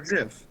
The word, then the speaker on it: GIF: It's pronounced Jif, just like it's, you know, like I'm- God or Jod.